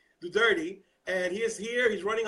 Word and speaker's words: Duterte: and we have Edwin Duterte I'm sorry for mispronouncing your name correct me the turning grits you remind me just remind me don't worry about it do dirty and he's here he's